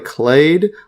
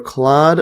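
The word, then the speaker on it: clade: see the pronunciation on this one here clay yeah so they call it clay yeah so is it clay I've been calling it clad slcl yeah basically trying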